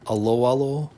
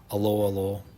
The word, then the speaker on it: Aloalo: you get this is you you trade 100 aloalo a l o a l o coins so